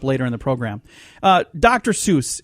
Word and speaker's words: Seuss: He did not pronounce it Seuss. He pronounced it Seuss. So we're all saying his name wrong. It's Dr. Seuss. Okay. Not Seuss.